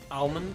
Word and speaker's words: almond: Oh, so you pronounce the L. Yeah. I say almond. Bonsai for dirt. Okay, to be fair, I think pronouncing it almond is just a me thing. It's weirdly easier. I just say almond. Because I don't know anyone else who actually pronounces it like that.